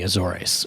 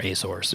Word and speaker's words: Azores: There's interest right now in the Azores or Azores, if you whichever way you want to pronounce it.